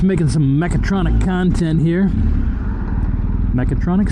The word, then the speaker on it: mechatronic: See, I said it right that time, but that's good. I learned it wrong. And then, you know, the rule of primacy, you learn something wrong, it just sticks. Really sticks, too. So, I keep dropping that damn A.